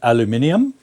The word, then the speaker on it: aluminium: front of us yes so I'm happy to pronounce it aluminium if it's spelled like that in front of me MH um but if